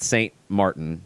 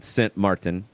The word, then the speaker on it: Sint Maarten: Sint Maarten and Guadeloupe not st. Maarten but Sint Maarten I know there's probably a better way to pronounce it completely different than st.